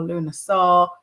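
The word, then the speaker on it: Lughnasadh: Do you know how to pronounce it, like in Irish? Lunasa.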